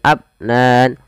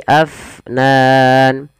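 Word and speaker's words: أَفْنَانٍ: Alirkan nafasnya jangan abnan, tapi afnan.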